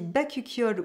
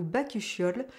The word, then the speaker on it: bakuchiol: Alors je ne sais pas si on dit bakuchiol ou bakuchiol, il me semble qu'on dit bakuchiol, mais je trouve ça beaucoup moins joli dans la prononciation, je préfère bakuchiol, mais bon bref.